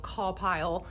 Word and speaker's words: CAWPILE: that uses seven letters it's spelled call pile c-a-w-p-i-l-e and each letter stands